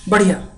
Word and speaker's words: बढ़िया: इट्स not, don't pronounce like it's धी sound, और neither it pronounces like धी sound, right, not धी, नॉट neither it's D sound, neither it's dhi sound, right? Dhi and dhi, two different dh sound, because here is a dot sound.